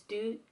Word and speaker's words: Du: of the song is Do and Itch. Do and itch. It's not even do, it's not as in doing, it's like do you, like how do you say that, like it's do.